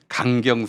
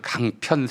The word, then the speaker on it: 강경: 이제 보좌관이 써준 걸 읽는데 국회에서 읽는데 강경 세력이라고 때 강경 세력. 그거를 강편 세력이라고 읽었어요.